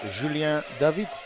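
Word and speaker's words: Julien David: this car of Julia David because his name change when you are from France I would say Julian David but when you are from France it's Julia David while I raced uh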